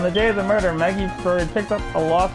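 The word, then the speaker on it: Maggey: how her name sounded oh so it is pronounced Maggie all right but your honor when it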